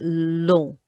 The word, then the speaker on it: long: And long, although it's the spelling is the same as English, the on makes that piggy nose sound. On, like we had in monstre. So that is long, long.